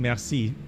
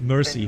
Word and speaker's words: merci: So I heard an American Airlines in Paris, instead of saying merci, he said, 7, taxi left on Alpha, he said mercy. Mike and Romeo send 6. And I was like, no, that's not how you pronounce it.